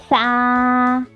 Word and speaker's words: ث: Today's new letter is Sa. Everyone say it with me. Sa. Sa. Its sound is Sa. And you will pronounce it like Sa. Okay. Put your tongue between your teeth like this.